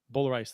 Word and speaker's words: Boulerice: I think it's Zach Boulerice. Boulerice, that is how you pronounce it.